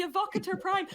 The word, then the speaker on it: Evocator Prime: The Evocator Prime. I said it right, the Evocator Prime. I'm so used to saying like Eviscerator and stuff like that.